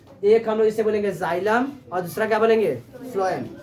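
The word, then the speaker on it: xylem: जाइलम का अगर तुम लोग पढ़ोगे तो इसका डेफिनेशन इसका स्पेलिंग आएगा एक्स वाई एल इ M Hindi में इसका देखोगे तो क्या लिखा जाता है जाइलम जाइलम जाइलम क्या करता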